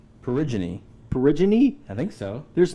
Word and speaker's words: Peregrine: Isn't it Peregrine? Perigine.